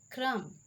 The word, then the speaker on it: crumb: The letter B is usually not pronounced after M at the end of a word.